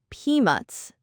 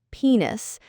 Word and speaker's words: peanuts: For number 6, it's peanuts, not penis. Make sure you pronounce that T.